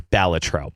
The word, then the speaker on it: Balatro: And you specified that is the correct pronunciation of that. Compared to ChatGPT and YouTube videos that I've watched online, it is Balatro.